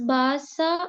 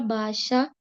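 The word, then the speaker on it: भाषा: In this 54 sloka is it pronounced as basa or basha? Basha. Basha. Okay. Yeah. Because you know if you see there is a there is a dot under s correct.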